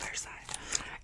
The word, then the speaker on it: Versailles: That's how you say it, Versailles.